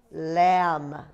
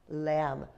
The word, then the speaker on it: lamb: everyone say l hey a silent b lamb you hardly hear that b lamb what else is another